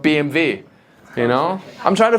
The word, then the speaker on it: BMW: own I say BMW instead of BMV you know I'm trying